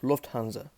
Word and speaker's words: Lufthansa: So really, the name Lufthansa, Lufthansa or Lufthansa, or however you pronounce it, is actually pronounced Lufthansa.